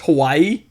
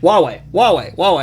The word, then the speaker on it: Huawei: For the longest time, I thought it was pronounced Hawaii. It is kind of spelled like that. I know! That's how I looked at it. I was like, Hawaii! Oh, wait. And then I started watching all these tech channels, and they're like, Huawei.